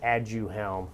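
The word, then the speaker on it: Aduhelm: have to pronounce it and you have to spell it okay there's a there's a brand name for the medications called add you helm that's probably a little easier a-d-u-h-e-l-m so add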